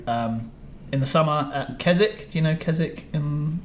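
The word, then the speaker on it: Keswick: in the summer at kzk do you know kzk in the Lake District there's a convention there yeah rings a bell it's spelled KZ Wick yeah so don't let that throw you off okay it would cuz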